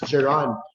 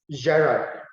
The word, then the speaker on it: gerund: years and years ago i pronounced the word as geran later on i realized that the word is better pronounced or properly pronounced as gerard so i'll release this